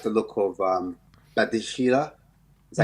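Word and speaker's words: Badiashile: And when I look at Chelsea, players I look out for, funny enough, I like the look of Badishila. Is that how you say his name? Badishile.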